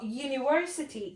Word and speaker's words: university: umbrella ah but for university it starts with university u it starts with the letter y universally so we will